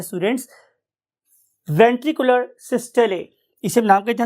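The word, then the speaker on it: systole: कि इस particular ventricular सिस्टले की वजह से, अच्छा, बहुत से जो हमारे यहाँ के लोकल कन्वेंशनल लोग हैं वो इसे वेंट्रिकुलर सिस्टोल भी बोलते हैं, but actual pronunciation is ventricular सिस्टले।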